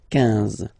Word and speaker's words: quinze: Same thing here, U doesn't exist, so quinze, quinze, quinze, alright? IN, nasal, so it's un, quinze, quinze, okay?